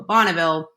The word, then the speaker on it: Bonneville: came to the US they've got a completely different pronunciation than the French do and so it's and